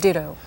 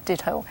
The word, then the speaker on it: Ditto: more about this ensemble Ditto. Am I pronouncing it right, or is it supposed to be pronounced Ditto or Ditto? Well, I say Ditto, but I think in Korean, in Korea, people say Ditto.